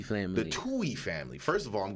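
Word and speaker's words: Tuohy: that yo go and find out Joey the Tui family the Tui family first of all I'm glad you said it because I butchered the hell I wasn't even going to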